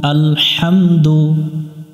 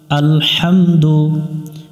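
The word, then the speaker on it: الحمد: এখানে আমরা লম্বা হা এটা হলকের মধ্য থেকে একটু বাতাস বের করে উচ্চারণ করতে হবে হাহামদু লি মিলবে লামের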